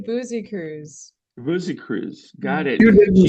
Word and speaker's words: Busekrus: Yeah, it's actually Busekrus.